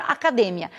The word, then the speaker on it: academia: Então, por exemplo, quando eu falo em português academia, em espanhol essa palavra ela tem a mesma grafia, ela tem o mesmo valor de significado, valor semântico, mas ela diverge na sílaba tônica, que seria academia.